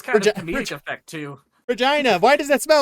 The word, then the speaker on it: Regina: Regina, Saskatchewan. You know what they say about that place? It rhymes with fun.